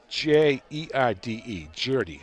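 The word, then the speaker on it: Gjerde: It's spelled G-J-E-R-D-E, Giardi, I hope.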